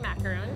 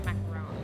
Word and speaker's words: macaron: They're very famous for their ice cream macaroons. Macaroons? Is that how you pronounce it? Macaroons? It's not a ooh, it's like a macaron.